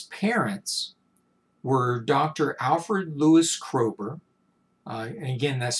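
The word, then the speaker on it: Kroeber: ursula k le guin the k stands for krober k-r-o-e-b-e-r uh just for your reference again you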